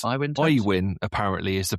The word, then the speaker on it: Aiwyn: Aiwyn? It's Aiwyn Tax? Aiwyn, apparently, is the pronunciation, but it's spelt AIWYN.